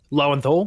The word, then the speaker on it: Lowenthal: I think the performance driven by Yuri, whose last name I can never pronounce. Lowenthal.